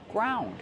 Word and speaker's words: ground: do we pronounce it ground use the ow sound like around and about ground ground is in